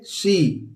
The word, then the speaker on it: sore: शोर नहीं पढ़ते हैं इसको दोस्तों, और इसको भी सोरे नहीं पढ़ते हैं, आर साइलेंट होता है, हम पढ़ते हैं सो।